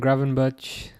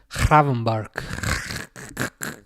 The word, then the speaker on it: Gravenberch: Favourite football player, probably Ryan Gravenberch, which I realised I've been pronouncing wrong. Apparently it's Gravenberch. Apparently that's how you pronounce it.